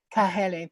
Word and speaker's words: Kahele: Is that the proper Hawaiian pronunciation? I know I should have practiced this a little bit better. Kahele. Kahele, thank you so much.